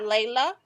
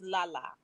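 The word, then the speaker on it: Lala: to let you know it's not layla it's la la la la la la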